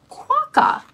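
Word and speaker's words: quokka: the rot Nest Island it's pronounced quaca this little marsupial is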